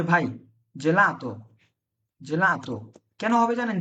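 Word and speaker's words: gelato: জি এর পরে যখন এ অথবা ই থাকবে, হ্যাঁ, জি এর পরে যেমন আমি বললাম যে ভাই জেলাতো, জেলাতো কেন হবে জানেন?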